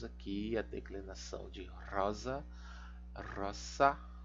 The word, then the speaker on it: rosa: Então aqui nós temos aqui a declinação de rosa, roça, não é Z, também é roça, roçai, tá? É um pouco complicado, né? A gente tem que abrir mão aí da nossa pronúncia em língua portuguesa.